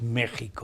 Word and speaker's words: México: por regla general la equis se pronuncia como jota o como s bien pues entonces diremos méxico méxico pero se escribe con equis con equis pues ya nuestros telespectadores también